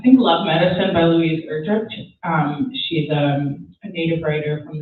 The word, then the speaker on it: Erdrich: It's Erdrich. I think that's how you say it.